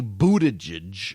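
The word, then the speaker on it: Buttigieg: been saying but a judge but it's apparently Buddha judge Buddha judge his this is actually the reason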